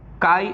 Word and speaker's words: chi: होता है equals to काई E into E, पी bar equals to काई ई बार। व्हाट इज काई ई? काई लिखते स्पेलिंग में CHI है, ठीक है, CHI, लेकिन हम पढ़ेंगे क्या? काई, ठीक है।